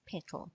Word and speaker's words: Petal: Ruth's was named Popocatepetl, of course, Petal for short, pronounced like petal.